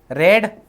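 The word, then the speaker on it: read: you will have रेड, ये जो V3 है, V3 स्पेलिंग सेम रहती है, सिर्फ प्रोनाउंसिएशन चेंज हो जाता है, रीड, रेड, रेड, V2 को आप रेड प्रोनाउंस करते हो, जो आपका कलर नहीं होता क्या, RED रेड वाला, उस तरीके से, और V3 भी रेड ही बोलते हो, तो क्या बनेगा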